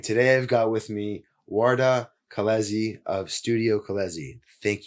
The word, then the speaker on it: Uarda: Spelling it out phonetically works. Uh, so Ward, thanks thanks for thanks for joining.